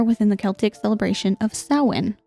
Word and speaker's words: Samhain: the Celtic celebration of Sinn which is not spelled like Sinn and I looked it up how to say it so about 2,000